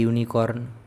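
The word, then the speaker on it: unicorn: Dash ইউনিকর্ন, এ ইউনিকর্ন, যেহেতু your মতো উচ্চারণ হচ্ছে।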